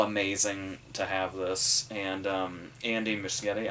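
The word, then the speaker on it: Andy Muschietti: to have this and Andy Michigan I think is how you say every time somebody says that I hear it said a different way but I think I heard him say himself that it was that so did obviously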